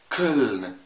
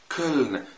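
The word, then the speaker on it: Köln: او مدينه كولن، كولن. ما قلتش كولن، انا ما قلتش كولن، خد بالك انا بقول كولن. حصل ايه بقى؟ حصل انه اتكسر شويه وبقى فرنساوي شويه.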